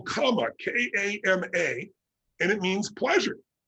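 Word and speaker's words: kama: that timing but the second name they call comma k-a-m-a and it means pleasure and if you're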